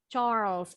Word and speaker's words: Charles: Kalau kita nyebutnya Charles, tapi bahasa Inggris bacanya bukan Charles. Charles. E-nya hilang.